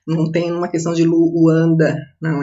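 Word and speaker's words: Luuanda: Nunca falem Luanda, não é assim que se pronuncia, Luanda mesmo.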